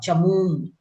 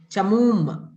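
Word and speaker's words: चमूम्: Chamun. You are pronouncing nakaram. It is makaram only. Chamum.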